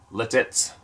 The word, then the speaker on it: Lititz: Lebanon County I live in a town called letez pronounced letez Lititz l-i-t-i-t-z which is only about a 20